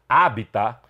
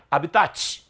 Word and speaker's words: habitat: Habita é uma palavra latina. Escreve-se dessa maneira, mas não se pronuncia habitat. A sílaba tônica é a antepenúltima, é habita.